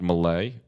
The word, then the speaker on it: Millea: had something to oh my last name is pronounced Malay oh Malay excuse me